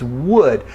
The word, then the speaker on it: would: It's not ooh, it's not wood, it's would.